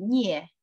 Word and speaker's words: Nie: This word is Nie, not Mei, okay?